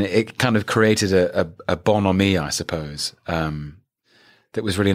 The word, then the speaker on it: bonhomie: And it kind of created a bonhomie, I suppose, that was really nice.